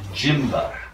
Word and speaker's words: Gymba: problem of static standing is called the jimba that's how I pronounce it and what it